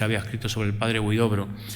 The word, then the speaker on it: Huidobro: desde el colegio Tajamar, que no Tamajar, que es más difícil decir Tamajar, igual que es más difícil decir Huidrobo que Huidobro, ¿eh? Y mucha gente pues baila a lo mejor alguna de las sílabas o la colocación de la R y nos resulta luego en castellano, en español nos resulta difícil pronunciar, ¿no?